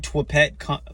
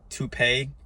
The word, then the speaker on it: Toupet: called the tupe fundoplication I've been saying twet uh tet fund application this whole time but then I I realized it was called tupe unless somebody uh mispronounced that and then I just believed it but it it sounded more like you know to T pay to me so um